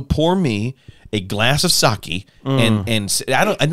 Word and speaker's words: sake: of Tsushima and then proceeded to call it sake. Is that not how you call it? Is that not what you say? Is it not sake? It's sake. Sake.